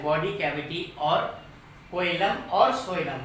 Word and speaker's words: coelom: Cavity और कोइलम और सोइलम। What how जैसा अनाउंसमेंट करना चाहिए वैसा देख लो आप, बट स्पेलिंग COELOM है, M, ओके, सोइलम।